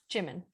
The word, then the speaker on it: Jimin: How do you pronounce that person's name? What? Oh, Jimin. Jimin.